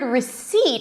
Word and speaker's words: receipt: Now the word receipt has a P in the spelling but there is no P sound.